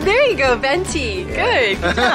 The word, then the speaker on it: venti: say small so we have tall Grande and vintage there you go venti good all right we got our milk say